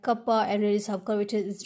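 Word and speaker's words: κ: now curvature is denoted by k which we pronounce like kappa and radius of curvature is denoted by rho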